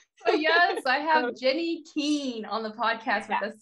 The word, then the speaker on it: Kiehn: It's Kiehn, actually. Kiehn, it's German.